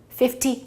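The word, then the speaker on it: fifty: There are two exceptions. That's number 50 and number 60. 50 and 60 we pronounce T, 50, 60.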